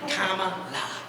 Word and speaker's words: Kamala: So they had the hat made to help people pronounce it right. Kamala.